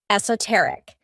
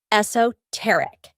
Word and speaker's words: esoteric: one but very beautiful it's pronounced in two ways in British English the most common is esoteric though you'll also hear esoteric it means intended for